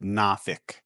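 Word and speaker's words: Norfolk: Uh, here in Virginia, we have a town called Norfol, except everybody pronounces it Nafk.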